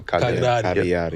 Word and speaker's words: Cagliari: The GL is silent, so Cagliari.